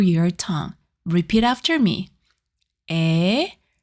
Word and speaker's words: ㅔ: A sounds very close to A, but your mouth is slightly less open.